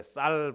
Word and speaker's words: 쌀: 시켜 보면 알겠습니까 예 쌀 발음 시켜 보면 알지요 다 같이 한번 해 볼까요 쌀 쌀 쌀 됩니까 예 말은 쌀 이런데 살이 하시는 분도 있죠 이게 참 잘 안 돼 그래서 발음을 시켜서